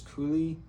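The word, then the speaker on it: Kühl: Their new name is Kulie, I think is how you say it. K U HL E.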